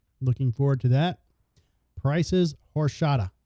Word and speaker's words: horchata: forward to that prices horshata did I just pronounce it right sure horchata okay now I will